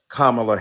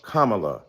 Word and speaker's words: Kamala: respectful to the congresswoman who insisted upon misnaming mispronouncing kamla Harris do you call Melania Melania do you call evanka Ivanka then call Kamala Kamala then call vice president Harris vice president kamla